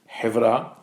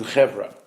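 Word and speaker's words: חברה: It actually comes from the Hebrew word in the Sephardic pronunciation is hevra, which means society or community, and in the Ashkenazi pronunciation is chevra.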